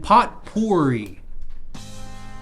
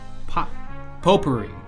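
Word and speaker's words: potpourri: closest to God and pot porri pot poery I'm being told it's poery my pronunciation was subjectively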